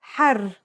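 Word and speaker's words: حَرّ: For example, here are two words that have the same letters but are pronounced differently and have different meanings because of the difference in voweling. Har means hot, while hur means free.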